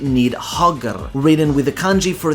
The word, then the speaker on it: Níðhöggr: Yet perhaps even more fearsome is the "Níðhöggr" (pronounced "nig-hog-r").